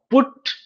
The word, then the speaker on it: put: पूछे होंगे कि अरे PUT पुट कहते हैं और CUT कट के रूप में हम उच्चारित करते हैं. स्पेलिंग सेम है परंतु देखिए एक में उ साउंड आ रहा है और दूसरे में अ साउंड आ रहा है. PUT यू का यहाँ पे उच्चारण उ के बराबर है और कट में यू का साउंड अ है.